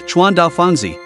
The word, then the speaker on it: Chuandao Fangzi: The Hebei Supreme Court addressed Kawashima as Chuan Da Fangzi, the Chinese pronunciation of her Japanese name.